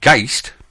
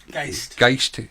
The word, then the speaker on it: Geist: sound or to rumble, and Geist, or is that how you say it? Geist. Is that how the Germans say it? Because it's a German word, and it means ghost or spirit, or ghost and spirit.